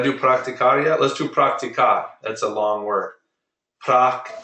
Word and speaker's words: practicar: practicar yet let's do practicar that's a long word praco see I'm putting the stress on the second to last syllable praco practicas praca practic